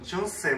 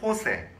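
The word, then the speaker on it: José: 근데 이제 이 사람 이름이 보통 그 스페인식으로 발음하면, 이 우리는 영어로 말하면 뭐, 조세 뭐 이렇게 되겠지만, 영어는 J를 발음하는데, 이 스페인어의 J나 우리말로 흐 하는 발음, 그 호세. 그렇게 발음이 되더라고요.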